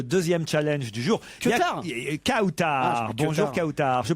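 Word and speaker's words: Kawtar: Kautar Kautar. Bonjour Kautar. Je prononce bien votre prénom.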